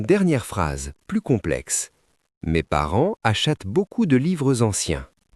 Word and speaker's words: parents: Mes parents achètent beaucoup de livres anciens. Analysons ensemble. Mais, S muet. Parents, S et T muet.